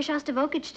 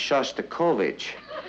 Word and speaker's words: Shostakovich: taking me to hear shock to voltage you tonight honey I think that's pronounced Shostakovich we would like to